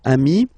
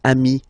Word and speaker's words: ami: here okay but then technically you pronounce it the same way so singular form Ami plural form you add this s but it's Ami as well okay in that case